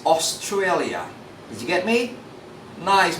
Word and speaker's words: Australia: Don't say Australia. This is Australia.